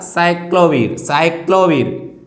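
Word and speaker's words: acyclovir: जैसे हम बात करते हैं साइक्लोवीर, ए साइलेंट है, यहाँ से आएगा साइक्लोवीर।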